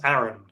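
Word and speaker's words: Aran: game uh Samus uh Samus Aaron Apparently that is how it's pronounced uh I've been saying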